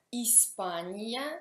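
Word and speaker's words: Испания: Spagna, in italiano Spagna, Ispania si scrive e si pronuncia Ispania.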